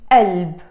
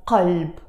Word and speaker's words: قلب: But we don't pronounce it as qalb in Lebanese Arabic. We will pronounce it as alb, and that's the case